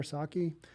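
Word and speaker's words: Psaki: house press secretary jenn saki am i pronouncing that right i think i am i assume the p is kind of silent there saki punt punted on the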